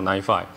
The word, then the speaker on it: NiFi: PyHug，那以前在台北的时候会去台北打牌，不过现在比较不好意思，我去的时候应该都已经结束了。好，这是今天的大概的主要讲的东西。我会从介绍一下什么 data pipeline，然后data flow 什么，然后NiFi 的一些概念，然后思考一下，我讲完之后为什么你可能会需要 NiFi，然后再讲到说，那因为这还是 PyCon 嘛，对，Python 怎么跟 NiFi 做一些 integration。还有一些我个人的一些建议，好，最后，OK，